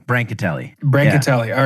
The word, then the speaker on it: Brancatelli: Yeah, it's like in between those two. Brancatelli.